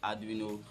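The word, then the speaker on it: Arduino: the anduo Uno yeah I actually corrected my pronunciation in my last video because I pronounced it as Andino Uno and which is not it so it's actually adino Uno and that is the right pronunciation okay now without wasting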